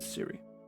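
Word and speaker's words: Cwy: ] with apple it it's spelled differently it is c-w y but still pronounced Siri okay I just spelled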